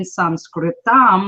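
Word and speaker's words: संस्कृतम्: And the technical term in Sanskritam, which is how you say Sanskrit in Sanskrit, is through spoken words.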